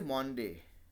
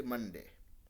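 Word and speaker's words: Monday: जैसे मंडे है, we don't say मॉन्डे, मतलब कुछ जगह पे लोग बोलते हैं, लेकिन मॉन्डे इज़ नॉट the right pronunciation, right, we से मंडे।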